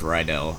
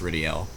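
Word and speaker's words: Rydell: obtained anyway right over here we have Lord ridel or Lord ryel I always call him Lord ryel because that's how it looks but it's apparently pronounced ridel so it's locked can we talk to him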